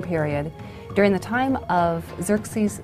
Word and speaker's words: Xerxes: And the Greeks said Xerxes, which is Xerxes. Okay? He was the husband of Queen Esther. The young girl Esther lived during the Persian period, during the time of Xerxes I.